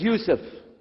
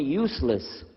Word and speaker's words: Yusuf: shalom my name is youssef can you say yusuf you said yousuf you're very good i wish you teach my wife she keeps mispronouncing it she calls me useless now how many of